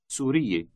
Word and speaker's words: سورية: Note that when addressing a woman, you have 3 syllables. For a man, there are only 2.